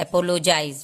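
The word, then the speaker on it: apologize: अब जी, एपोलोजाइज, इसको मैंने जी को ज पढ़ा, जबकि आप लोगों को पता है कि जी को हम ग पढ़ते हैं। तो जैसे कि GOAT, गोट पढ़ते हैं। ठीक है, जी के बाद जब आई आ जाता है तो इसको हम ज पढ़ते हैं, एपोलोजाइज।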